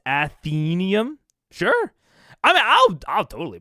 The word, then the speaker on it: Athenaeum: Isn't it pronounced Athenium? Like Athena. Oh, Athenium. Not Athenaeum? Athenium.